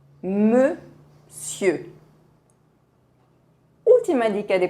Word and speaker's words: monsieur: as letras O, N, mas não se pronuncia com as letras O, N, se pronuncia como se fosse E. Vamos dizer monsieur, monsieur.